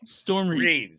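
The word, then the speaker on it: Storm Reid: You can't send me stuff and get mad at me when I mispronounce it because Okay, you spelled it wrong. Storm Reed.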